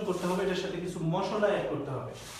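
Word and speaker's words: mai: আস্ক থাকবে এরকম বা এরকম বা এরকম তো মূলত গ্লোবালি এগুলোর উচ্চারণটা তখন কিন্তু হয়ে যায় হচ্ছে একার বা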